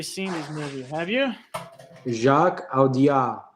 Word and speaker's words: Jacques Audiard: Jaco Diard for Emilia Paris. I actually seen this movie. Have you? Jacques Audiard. Jacques Audiard.